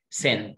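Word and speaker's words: scent: طب اللي تحتها طبعا فوق ما قرناش السي يبقى تحت مش هنطق السي، لا هننطقها سنت، الاس هي السايلنت سنت سنت سنت.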